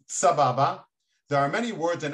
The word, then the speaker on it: Sababa: South America um yes the word sabab is actually an Arabic word pronounced Sababa there are many words